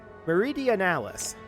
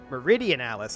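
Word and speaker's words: Meridionalis: this one here there marie diana there we go meridian alice actually is how i should pronounce that we're gonna go ahead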